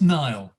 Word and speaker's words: Niall: did i pronounce that i mispronounced your name it's niall so you got it right i think you're too